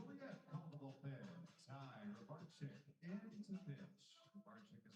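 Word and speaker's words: Rybarczyk: It's R Y B A R C Z Y K. It's one of those names. It's kind of cool, though. Ry Barczyk is how you say it.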